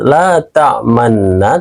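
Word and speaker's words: لَا تَأْمَنَّا: Ismam itu artinya memonyongkan bibir di tengah-tengah dengung sebagai isyarat bahwa lafadz la ta'manna berasal dari kalimat la ta'manuna. Nah, cara bacanya saat berada di nun tasdid en, cara bacanya seperti ini. La ta'manna.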